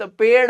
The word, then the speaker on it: पेड़: बिहार के दोस्त तो वो इसका उच्चारण करते हैं पेर पेर वो देखो बड़ा सा पेर है अरे पेर नहीं है दोस्त पेड़ है पेड़ क्या कहेंगे पेड़